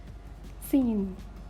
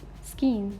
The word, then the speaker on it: scene: you know subject science scene not skin this is scene seem manzar thank you